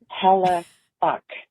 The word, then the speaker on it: Hellebuyck: And AI, I think, said Helle It's Helle Buck. Rhymes with luck.